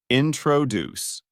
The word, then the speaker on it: introduce: out loud for example the word introduce is pronounced with a stress at the end so it sounds like this introduce sometimes where you put